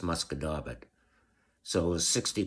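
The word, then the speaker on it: Musquodoboit: up to what people from away would call mosquito bar which is what I called it but it's actually pronounced muscador but so it was 60 kilometers of track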